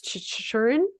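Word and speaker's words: Chychrun: Chikrin. Thank you. Matt Jacob Dumba. Chikrin.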